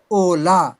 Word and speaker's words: hola: Just fit into your mind that in Spanish H is always silent. Spelling of hola, H is silent and we pronounce it Ola.